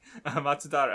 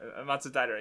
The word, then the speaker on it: Matsudaira: chief, the boss of the Shinzugumi old guy, Matsudaira. That's his name? Okay. Matsudara. Okay, I'll try. Matsudaira.